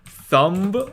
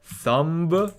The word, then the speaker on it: thumb: spelling like what like thumb i have a thumb we don't pronounce the b you know like so